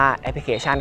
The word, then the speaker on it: แอพพลิเคชั่น: ช้าง ๆ ใน กล้า นอน หนู อ่าน ว่า แอพพลิเคชั่น ครับ ซึ่ง ได้ ให้ ความ หมาย ของ คำ